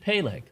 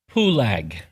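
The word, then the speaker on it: Peleg: his three sons however if you want to pronounce that name properly to the Hebrew you would change the vow sounds you would not pronounce it pale you would pronounce his name to mean it was divided pul as in Mount pulag the tallest mountain on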